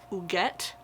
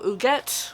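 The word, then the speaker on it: Huguette: the mysterious life of I believe you pronounce her name who get Clark and the spending of a great American fortune so who gets which as far as I can tell is the way they tell you to pronounce it in this book it's French owns several mansions several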